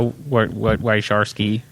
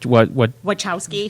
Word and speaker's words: Wachowski: This was directly at the Wysharsky siblings. I mean, no, I didn't get that pronunciation right. Sharsky. Wysharsky? What? Wachowski.